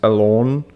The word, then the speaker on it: Alon: He is Israeli, so I'm pretty sure his name is actually pronounced Alon, like with that little, the O that's pronounced that way, just Alon, sort of, more, maybe. So it doesn't sound like a lawnmower, like how a lot